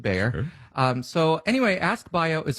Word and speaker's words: Bayer: that's a mouthful and germans pronounce bayer buyer but we're going to stick with bayer so anyway ask bio